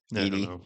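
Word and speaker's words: Eedy: dinner party thing with um Dedra Zero and Edy. How How do you pronounce it? Edie.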